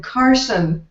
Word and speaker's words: Carson: your name really right my name is Dr Carson as in Johnny that's in Carter liver pills and uh that's that's the way to pronounce it okay and you